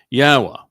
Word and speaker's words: Yahweh: I go through this with you and use these 4 words because they prove emphatically that the proper pronunciation of Yahweh's name is as I have pronounced it, Yahweh.